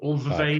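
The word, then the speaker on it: Alvvays: Or always. Correct. Yeah, it's pronounced always, but that's correct.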